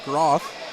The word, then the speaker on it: Groth: And apologies, as I've been saying Booth all night, it's Wyatt Groth. So I've been saying that name wrong through the first almost 13 minutes of this game.